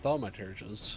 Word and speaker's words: thaumaturges: The many talented Uldan thaumaturges among them should be more than capable of closing any fissures they encounter. So that's how you pronounce that, thaumaturges.